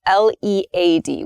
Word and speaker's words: lead: talk about the noun the noun form is pronounced lead lead so the noun form